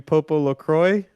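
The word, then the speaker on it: PopoloCrois: gonna do return to Popo Lacroix I think is how it's pronounced a story of Seasons fairy tale uh it is uh purple LaCroix I think it's probably french yeah like croissant uh this is an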